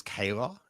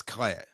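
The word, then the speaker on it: Kleya: I think I've been pronouncing her name as Kayla? It's Claire. You have, it's Clea. Claire.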